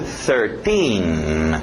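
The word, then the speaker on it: thirteen: TH de sapo, 13. Esse final, T-I-N-I, para no N. Tin, tin, tin, por tin, tin. 13.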